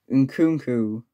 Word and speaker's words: Nkunku: French cam, Christopher and Cuckoo, Jesus, Nkunku, right?